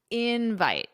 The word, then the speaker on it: invite: And it's the same as invitation, just remember the pronunciation. Invite the syllable stress on the first syllable.